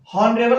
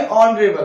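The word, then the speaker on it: honourable: हॉनेस्ट नहीं, ओनेस्ट। हॉनरेबल नहीं, ऑनरेबल।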